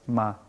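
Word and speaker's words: 吗: a natureza da palavra, e a pista fonética, que é o pictograma de cavalo, ma, daí pronunciar-se ma.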